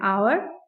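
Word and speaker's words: hour: एन आवर, आवर में H silent है और ओ की साउंड प्रोड्यूस हो रही है, इसलिए यहाँ पर भी एन का आर्टिकल यूज हुआ है।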